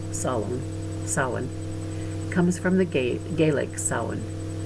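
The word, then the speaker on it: Samhain: closest religious scholars agree that the word s-a-m-h-a-i-n pronounced salon sawin comes from the gay gaelic but they're divided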